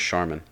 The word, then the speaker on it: Charmin: Just pronounce it right, bro. Charmin? It's pronounced Charmin.